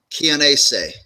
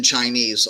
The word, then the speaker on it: Chianese: It's actually pronounced Chianese, like Chianti wine. But most of my life, when you actually see the spelling of it, I've answered the Jim Chinese all my life. Where is that last name?